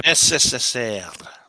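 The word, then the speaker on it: СССР: So SSSL that's how you pronounce it. These are letters. It's not C. These are not letters from the Latin script. They're letters from the cerillic script.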